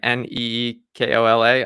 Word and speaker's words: Nikola: He pronounces it Nikola, like Neekola.